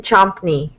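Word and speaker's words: Csoknyai: I'm gonna say your name like this, Adrienn Chompney. Yes. I got it right!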